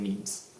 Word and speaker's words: meme: The fact is though that the word was created to rhyme with G. And so in Spanish you already say genes, so saying memes kind of makes sense. Although, when you speak English, I would recommend saying memes.